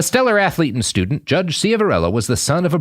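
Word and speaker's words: Ciavarella: judges mark Cella uh and Michael conahan yeah Cella is how it's pronounced more or less now Mark a Cella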